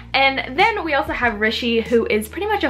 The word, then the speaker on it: Rishi: The next book I read was When Dimple Met Rishi by Sandhya Menon. Actually, I meant to say Rishi, it's Rishi. I keep saying it wrong, but in the book,